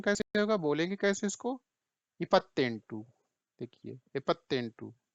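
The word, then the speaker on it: ಎಪ್ಪತ್ತೆಂಟು: इसका प्रोनाउंसिएशन कैसे होगा, बोलेंगे कैसे इसको? इपत्तेंटू, देखिए इपत्तेंटू, ये देखिए कैसे पढ़ेंगे?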